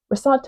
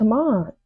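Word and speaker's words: ressentiment: That's how it's said. Resant. Resant.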